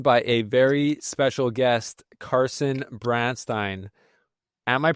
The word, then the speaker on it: Carson Branstine: All right, we are joined by a very special guest, Carson Branstein. Am I pronouncing that right, Carson?